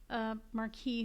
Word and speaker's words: Marquis: Oh, it is pronounced like Marquis.